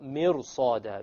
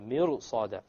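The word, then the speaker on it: مرصادا: Try saying mirsa. Mirsa is difficult, because the sad requires your mouth to become itbaq, like isti'la. So therefore, the ra, when you make it heavy, it makes it easier to pronounce the sad. So, mirsada, mirsada.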